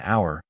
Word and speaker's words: hour: Hour begins with a vowel sound because its H is silent, while house begins with the consonant.